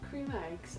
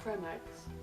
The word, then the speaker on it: Creme Egg: Also, have you seen that cream eggs aren't pronounced cream eggs, they're pronounced creme eggs?